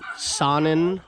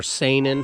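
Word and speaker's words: Saanen: right there she is a sonnen or seinen however you want to pronounce it yes s-a-a-n-e-n oh n-e-n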